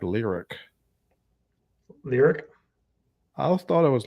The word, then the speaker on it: Lyriq: But Dane, somebody told me in the comments that the Cadillac Lyrique is pronounced the Cadillac Lyric. Lyric? I thought it was Lyrique.